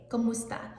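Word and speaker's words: kumusta: say the word and it's spelled k-u-m-u-s-t-a comusta and it sounds a lot like the Spanish version of como esta and it literally means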